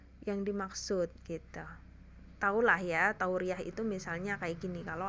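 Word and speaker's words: تورية: Tauriyah adalah wa fihi dobit wahid. Hanya satu kaidah juga, yaitu maknanya saja. Tauriyah itu iya-nya tanpa tasydid ya. Tauriyah gitu bacanya. Bukan tauriyah, bukan. Tapi tauriyah.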